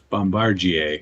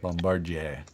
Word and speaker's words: Bombardier: deer jet ski or let's call it a Bombardier jet ski Bombardier how do you say that thank you Bombardier Bombardier fresh France we from Quebec yes so yeah